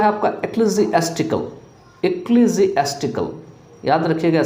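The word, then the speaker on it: ecclesiastical: Next जो है इसमें वो है आपका एक्लेसियास्टिकल। एक्लेसियास्टिकल याद रखिएगा, स्पेलिंग थोड़ा टफ है, तो इक्ली यहाँ पे इसली नहीं बोलेंगे, ई सी जो लगा हुआ है इसको इक्ली बोलेंगे, ECCLESI लगा हुआ है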